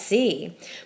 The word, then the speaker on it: si: C and C well the accent Mark isn't there for pronunciation because it's one syllable there's only one way to say see and that's C but with an accent